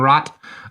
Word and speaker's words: Rat: organization called The uden Rot um which is rot is like a it's spelled rat like the animal but it's like a